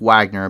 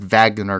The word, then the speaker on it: Wagner: that the wagner group it looks like wagner but it's pronounced vagner group which is very